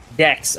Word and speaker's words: D3XX55: Dex. Okay, Dex. I was thinking of a completely different pronunciation for his name there.